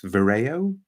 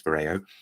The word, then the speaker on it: Vyrao: uh BB paa and I think we're supposed to pronounce this Vero it's it's it's a UK based brand I'm pretty sure it's Vero and then we'll come